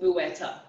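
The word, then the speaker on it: Bueta: You got to do Gretel Buetta.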